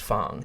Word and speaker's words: Fang: We've got the Coda tribe, the Fong tribe. I know, Andrew, you didn't like the fact that it's spelled like Fang and is pronounced Fong.